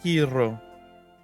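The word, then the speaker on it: Heero: You gotta roll your R's. Hiro.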